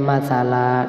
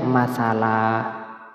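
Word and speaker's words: مَثَلًا: thi'i tapi Mad giwat enggak boleh dibaca masal Gak boleh ya dibaca masalah kenapa karena Alif diikuti dengan harakat fathatain ya maka bacanya matala dan diwakafkan matala tulisannya matsalan tapi bacanya massala saya baca dari depan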